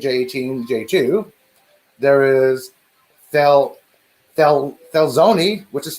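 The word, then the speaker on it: Thelxinoe: death 2003 j13 j18 j2 there is fel felzoni which is spelled t-h-e-l-x-i-o-n-e felzoni there is youth annie there's s-2017 j17 j7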